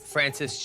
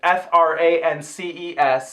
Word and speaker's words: France Jolie: they've said and whatever, that is Frances. It's spelled France Jolie. Sure. Like, it's spelled weird. Right, so France Jolie. Yeah. Frances Jolie, whatever she said.